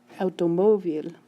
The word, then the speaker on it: automóvil: Automóvil, automóvil. You hear it? The stress is on the mo.